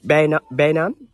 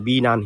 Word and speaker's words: Penang: It's spelled Penang, but it's pronounced Penang.